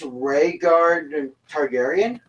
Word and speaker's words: Rhaegar Targaryen: true lineage mark rain before I think it's Rhaegar Targaryen yeah yeah yes that's you said it right